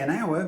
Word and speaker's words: hour: We say an hour because the H of hour is silent, so the sound is a vowel sound.